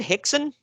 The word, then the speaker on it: Rickson: big Pride fight against Rickson Gracie. However, I'm proud of you for pronouncing that right. Yeah, I found out years ago the R is an H.